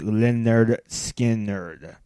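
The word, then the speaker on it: Lynyrd Skynyrd: number three Simple Man by Leonard Skinner from pronounced Leonard skin nner a great St rock song I mean there's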